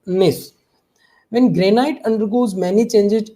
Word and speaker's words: gneiss: Okay बेटा, नाउ इज निस, यहाँ पर जी साइलेंट रहता है बेटा, दैट इज निस, प्रोनाउंस इट निस।